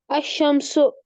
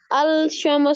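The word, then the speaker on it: الشمس: good अब इससे okay इसको ऐसे प्रोनाउंस करेंगे अल नहीं नहीं करेंगे ओके अंडर हम लिखेंगे अमस अल शम नहीं बोलेंगे अमस ना हम क्या पढ़ते बेटा क्योंकि इसके ऊपर व है तद ना हम लिखते हैं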